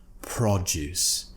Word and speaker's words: produce: look into the pronunciation the first word the noun produce we're pronouncing it with the first syllable being stressed FRA we're giving it more emphasis produce right prot is